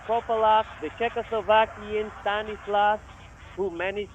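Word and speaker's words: Corbalán: One Corbalan. Corbalan. That's how you say it in French.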